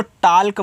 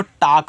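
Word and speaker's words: talk: टी ए एल के इसको टालक मत पढ़ना। इसको टॉक पढ़ना। टॉक इस तरीके से टॉक।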